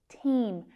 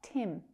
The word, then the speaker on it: team: That long vowel sound. Team. Team, not Tim.